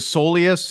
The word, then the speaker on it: soleus: Jeff St what in the world is a Solus and why have I not heard this word